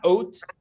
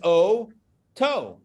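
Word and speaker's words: אותו: So it's O and then to. Now, if that last letter wasn't there, it would be oat. But it's not. It's not, right, Mr. Quaker? This is not oat. This is O-to.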